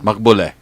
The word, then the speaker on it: Naghbouleh: And did I say that right? Naghbouleh. Naghbouleh. Okay, so there you go. You pronounce my name right.